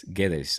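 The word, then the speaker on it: Guedes: was a Valen G GES or GES GES the U you don't pronounce it's like g g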